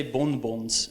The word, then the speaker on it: bonbon: The N only serves, like you're never going to say bonbons in French. No, you say bonbon. Because the N doesn't get pronounced, it tells you that the vowel turns into a nasal vowel.